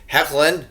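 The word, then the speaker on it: Hoechlin: show I thought that Tyler heckin is what I'm being told is the way to pronounce his name now was much better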